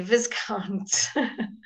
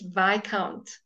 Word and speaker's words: viscount: why can't all right you would never say Viscount it's by count all right let's now